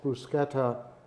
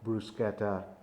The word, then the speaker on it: bruschetta: We had actually another bruschetta, which is it's like a toast with things on top of it, is bruschetta. And most Americans mispronounce it and call it bruschetta, but it's bruschetta.